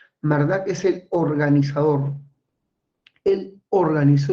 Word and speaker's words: Marduk: más poderosa de Mesopotamia marduk bueno se pronuncia mardak mardak es el organizador él